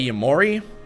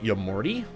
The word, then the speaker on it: Yamori: People also complain about how I say Yamori, and some guy told me I need to pronounce it Yamorty. Shout out to Rick and Morty, I guess.